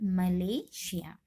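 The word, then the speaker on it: Malaysia: एस का उच्चारण श की तरह तब किया जाता है जब एस या डबल एस के बाद आई ओ अथवा आई ए आई, एस या डबल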